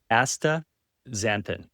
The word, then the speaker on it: astaxanthin: I can never say, I wanna yeah, it's the X in there. That makes it really hard. But if you break it down into Asta, xanthin, then it's Astaxanthin.